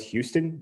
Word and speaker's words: Houston: a street in new york called it's spelled houston which i think of houston texas but it's pronounced houston and apparently you can really like